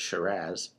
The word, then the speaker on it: Shiraz: come from australia where they label it shiraz and remember it rhymes with pizzazz the the um the